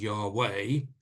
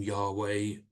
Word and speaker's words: Yahweh: name, or the letters YHWH, which is sometimes pronounced as Yahweh, or Jehovah is derived from that as well.